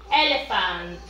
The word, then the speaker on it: elephant: Elephant. Remember. Recuerden. Igual que aquí. La P con la H se pronuncia como si fuera la F.